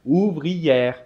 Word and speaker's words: ouvrière: le 10 grammes et dans ce cas on doit dire boulangère ouvrière mais il n'ya pas